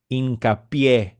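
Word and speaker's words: Hincapié: The last name is pronounced Hincapie, okay, with an accent on the E, okay?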